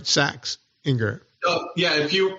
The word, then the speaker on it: Saxinger: I saying it right saxinger yeah if you the way you first said it would be in German American saxinger yeah SX call me